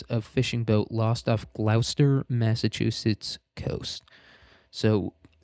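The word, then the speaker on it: Gloucester: So that's why uh this place that anybody else would pronounce Glowchester or Glouester uh or Glowester.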